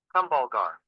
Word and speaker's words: Kumbhalgarh: तो प्रोनाउंस कैसे कर रहे हैं। Kumbhalgarh.